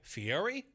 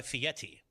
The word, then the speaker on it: Fieri: as possible let's clarify is it pronounced Guy Fieri or guy Fetti oh I don't think there's a t in there my friend you got